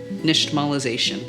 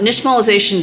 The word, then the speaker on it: nixtamalization: Another cool thing about this word, the X, pronounced sh, comes from an indigenous language, because this is a